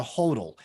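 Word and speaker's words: HODL: they call them Hodor h o DL is how they spell it oh okay specifically they do that on purpose they call it a hodal because Bitcoin people just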